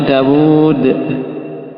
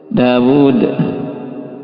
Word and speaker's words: Daud: Karena asalnya Daud itu walaupun gak ada wawunya dia kita bacanya Dawud. Dawud ya tapi penulisannya apa gini kan Daud.